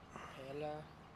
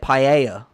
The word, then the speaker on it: paella: they will tell you it is pronounced paella, or how they say it, paella, but because L's become like Y's, so but they said if you should say it in British, it is paella.